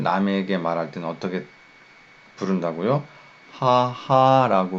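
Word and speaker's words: 母: 하하라고 발음한다는 거죠.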